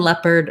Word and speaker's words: leopard: the sounds in leopard there's just two vowel sounds first of all we have the red tent vowel in that first syllable and la lep is stressed lap and perd is unstressed the letters ar say the er sound and so it sounds like lep the same um vowel